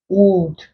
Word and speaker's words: would: vowel sounds like should, would. If you were to transcribe this, the L wouldn't show as well. The L wouldn't be pronounced.